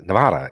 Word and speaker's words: Nevada: The correct pronunciation of Nevada, literally Nevada.